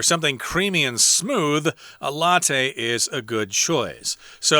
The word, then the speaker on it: latte: this word and go why are they saying latte it looks like lat in english again it's an italian word so we're pronouncing it the way they would latte so it's made with espresso